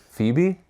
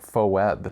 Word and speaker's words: Phoebe: for Webby oh Phoebe Phoebe yeah it's Phoebe really that's how you spell Phoebe I always thought it was like faux web no it's Phoebe I only know that